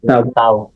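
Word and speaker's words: ת: sa kanya at tayo ang pronunciation sa kanya Ay tough t t parang F yung dulo tough tab pero t t t tav ang basa talaga pero ngayon modern language niya ito t o tav tav tav so yan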